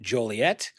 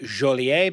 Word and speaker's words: Joliet: Uh, it explorers Marquette and my town's namesake of Joliet. Uh, probably pronounced Jolier because he was French documented the fearsome drawing in 1673.